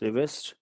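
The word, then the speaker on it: Rivest: reverse cipher number five actually it is pronounced as revest cipher number five and many other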